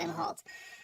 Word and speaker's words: Imholt: Central Standard Time, Rekieta and his wife, and April Imholt, as I've discovered his name is pronounced Imholt, were arrested for 2 different charges.